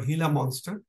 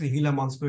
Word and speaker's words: Gila monster: reptile which is called hila monster is pronounced hila monster it's written as Gila monster pronounced as hila monster and this hila monster